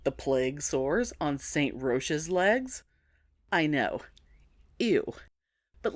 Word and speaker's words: Roch: plague sores on saint roche's legs i know ew but listen to this so roche or some pronounce it more like rock but i'm not going to be one of those people roche was one of those